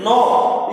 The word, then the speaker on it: know: KNOW pronunciation is no. Here C is the silent letter.